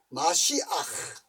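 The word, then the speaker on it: משיח: 예언자 라든지 마지막으로 메시아라 메시아가 아닙니다 메시아가 아니고 메시아 한번 따라갑시다 마시아 마시 마 마시 마시 그러니까 마쉬 아니까 그러니까 메시지 메시 아닙니다 영 하면 사이 하 영어 발음은 정말 개 같은 거예요 그 본래대로 한면 마시아 마시아 그러니까 메시아 메시아이가 아니고 자 그래서이 보세요 신정 국가의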